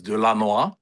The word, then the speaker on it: Delanois: The French pronunciation is Delanois, which is very Delanois.